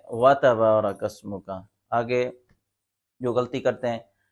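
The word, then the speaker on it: وتبارك اسمك: ہے وَتَبَارَكَ اسْمُكَ، تو نمازی حضرات کیا پڑھتے ہیں اوپر والا دیکھیں وَتَبَارَكَ اسْمُكَ، یہ درست نہیں ہے۔ جو تلفظ درست یہ ہے وَتَبَارَكَ اسْمُكَ۔ آگے جو غلطی کرتے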